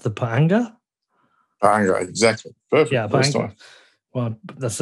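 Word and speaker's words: pa'anga: you do have a local currency is it pronounced the panga exactly perfect yeah well that's a that's a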